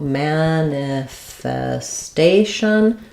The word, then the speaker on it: manifestation: manifestation so manifestation here's our stress on the a syllable we have an a secondary stress on man so we have a clear vowel there it does sound like the word man manifest um the